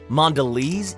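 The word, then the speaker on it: Mondelēz: With a dash on top, the E, pronounced Mondelez, is quite fancy.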